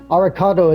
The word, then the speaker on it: Alucard: For those of you who haven't picked up on it, Arikado is how you pronounce Alucard in Japanese.